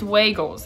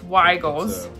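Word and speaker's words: Weigel's: differently I was like some people even here say it's Waggles it's not Waggles it's weigels and then I've heard Wiggles but not from like local people tell the people what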